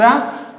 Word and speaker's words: a: और सबसे एक इंपॉर्टेंट बात और कि आपका प्रोनाउंसिएशन, कुछ लोग क्या कहते हैं इसको ए, इट्स नॉट ए, इट्स अ आ, इट्स नॉट ए, इट्स अ आ। ये ए नहीं, इसका प्रोनाउंसिएशन है आ book, अ girl, a table, a chair.